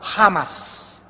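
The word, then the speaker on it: חמס: iniquidad en el hebreo se escribe chamas con ch chamas se produce la hecho en el hebreo como j jamas y significa violento significa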